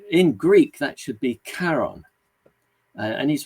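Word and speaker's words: Charon: name of the moon Shaon. and he said if we in Greek that should be Karon and he's right um the name does come from uh from Greek anyway and we should really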